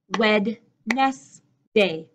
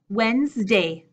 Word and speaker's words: Wednesday: it should be pronounced Wed yes day but my pronunciation is actually Wednesday Wednesday I'll see you next Wednesday I'll see you next Wednesday this D at the beginning completely gone Wednesday I'll see you